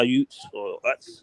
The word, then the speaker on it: Utes: uh for he plays for Utah the Utah Utes that's how you pronounce that damn uh team name but this